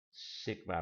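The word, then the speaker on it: σ: Sigma bacanya.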